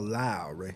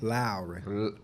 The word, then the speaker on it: Lowry: Kyle Lowry. And you got to say it like that. You ever seen Bad Boys? Say it again. Lowry.